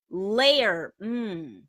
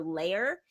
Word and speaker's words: lair: Layer does not rhyme with care. It's pronounced a little bit differently. That word that you typed in, layer, is like a place where someone lives, like your castle or your home. That's your lair.